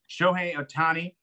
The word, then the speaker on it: Shohei Otani: Because I'm so scared to mispronounce it because that's all I do on this show is mispronounce names. Shohei Otani.